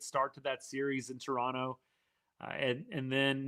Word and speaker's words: Toronto: That year to me, that was the melt in Toronto. Yes? Or Toronto, sorry, you don't pronounce the second T. Toronto.